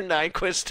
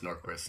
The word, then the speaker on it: Norquist: You guys You guys keep saying Nyquist. Whatever. It's Nor. I know, but someone is going to someone is going to say you said it wrong. So, I just want everyone to know we know it's Norquist.